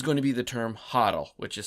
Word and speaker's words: HODL: and today is going to be the term hotle which is spelled h o DL and it's actually sometimes